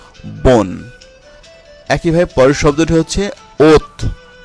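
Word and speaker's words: bonne: যেমন বোন, এই বোন শব্দটির শেষে দেখুন কি আছে, আছে, তার আগে দুটি এন রয়েছে। তাহলে আমরা যেটা করব, ও এর কোনো উচ্চারণ হবে না, ঠিক তার আগে যে কনসোনান্ট এন আমি এখানে মার্ক করে দিয়েছি, এই এন পর্যন্ত উচ্চারিত হবে। তাহলে কি হচ্ছে, বোন।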